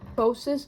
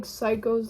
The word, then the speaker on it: Psychos: album called psychos and it's spelled that way because the name is actually hosis in Swedish it's not like psychos like you know but yeah that